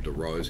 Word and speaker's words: Dorrough: piece of rack mounted doro's equipment or DeRose however you want I've always known as Doros okay that's how I've pronounced it but these are just